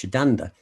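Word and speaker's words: Sétanta: irish legendary hero kahulum his childhood name was satanta it's pronouncing why in irish shiddanda but it's the same it seems to be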